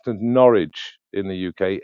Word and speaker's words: Norwich: It's it's most shall be said uh pronounced as Norwich in the UK.